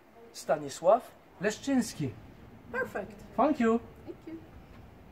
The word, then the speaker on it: Stanisław Leszczyński: Can you tell us how to pronounce Stanisław Leszczyński correctly? Stanisław Leszczyński. Stanisław Leszczyński.